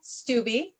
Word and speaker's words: Stubbe: And we're bringing on Julia Stubbe.